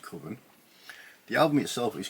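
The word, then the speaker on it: Cwfen: It's pronounced Coven.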